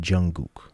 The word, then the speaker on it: Jungkook: I think it's pronounced Jungkook.